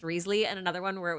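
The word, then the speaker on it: Wriothesley: you like uh okay yeah it's Risley I looked it up in fact I looked it up so thoroughly that I found four pronunciations for Risley and if if Joe says it's pronounced Ria the sleigh I'm going to throw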